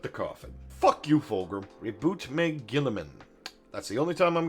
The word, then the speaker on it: Roboute Guilliman: Roboute Guilliman.